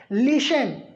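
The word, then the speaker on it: listen: करेंगे तो हम लोग इसको क्या पढ़ते हैं लिसन क्या पढ़ते हैं हम लोग इसको पाते हैं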